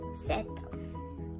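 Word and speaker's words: sept: Seven we say in French set.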